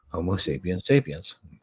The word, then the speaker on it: Homo sapiens sapiens: and ended up creating Homo sapiens sapiens, which is the correct way to say that, by the way.